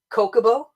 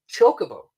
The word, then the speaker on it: Chocobo: people say Kokobo, and some people say Chocobo. You pronounce the H. Right? Yeah. And I was a Kokobo guy. I was always like Kokobo because my name is and it's CHR.